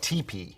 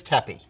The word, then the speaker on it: TeePee: be using tapi foliage many people call it teepee but the correct pronunciation is Tepe it's grown by a